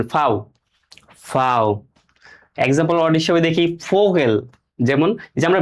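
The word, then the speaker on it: Vogel: যেমন ফোগেলগে অর্থ পাখি এফ এর মত উচ্চারিত ঠিক আছে ফাও এখন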